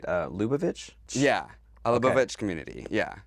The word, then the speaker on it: Lubavitch: But growing up in Washington, you grew up in, I want to make sure I pronounce this right, Lubavitch?